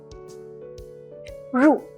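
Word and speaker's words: 入: the right with the longer right curve is pronounced as ru it means to enter for example we can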